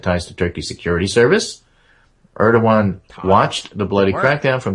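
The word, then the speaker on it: Erdoğan: A few weeks ago, just after Erdogan, I think is the proper pronunciation, visited the White House, a bunch of Turkish goons kicked in the heads of protesters outside the country's embassy.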